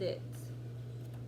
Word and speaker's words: I: But when you use it in a sentence, you're going to pronounce it I. So you're going to say I. That's how it's pronounced.